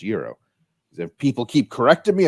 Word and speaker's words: gyros: guys I got some Gyros and they said you know it's it's pronounced Euro if people keep correcting